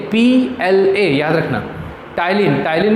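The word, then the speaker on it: ptyalin: टाइलिन में P जो है वो साइलेंट है, टाइलिन, फिर उसके बाद लाइसोजाइम और एमाइलेज।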